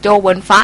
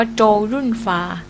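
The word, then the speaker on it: 周潤發: คะ โจ ยุ่น ฟา โจ หวน ฟะ นี่ จริง ๆ อ่าน ว่า โจ ยุ่น ฟา นะ คะ อาจ จะ มี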